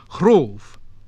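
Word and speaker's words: hrōf: WH, so what, what, but also in HL, as in chlavord, Lord, and HR, as in hroof, roof.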